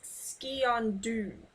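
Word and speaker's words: sgian dubh: And despite what you may be inclined to pronounce that as, it's Skiondu.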